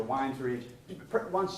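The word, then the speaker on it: Wynnes Ridge: I've heard it pronounced two different ways, Winds Ridge or Wines Ridge.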